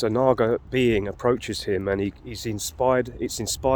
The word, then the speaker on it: Naga: that but let's um let's look at the Naga that's how you pronounce it you know the serpent likee be